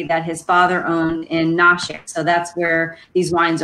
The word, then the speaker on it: Nashik: piece of property that his father owned in nashik so that's where these wines are from you'll see it's spelled a couple different ways you'll see it spelled n-a-s-h-i-k and then also n-a-s-i-k but it's pronounced nashik india um it's located on the